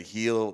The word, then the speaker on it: Gil: year heel uh um I always say heel but it's spelled G I L so Gil it was just like